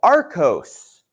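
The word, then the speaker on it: arkose: are other variations of sandstone including one called Aros Aros is sand siiz particles therefore making it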